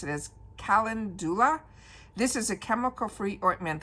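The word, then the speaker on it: calendula: I'm going to pronounce it as Kalindula.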